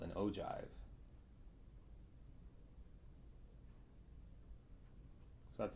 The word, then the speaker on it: ogive: drew this kind of graph is called an ogive so that's how you pronounce that oh jive so an ogive is a cumulative frequency graph